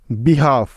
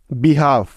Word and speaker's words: behalf: বিহাফ, BEHALF, বিহাফ। Next কে এর আগে এল সাইলেন্টের কিছু উদাহরণ।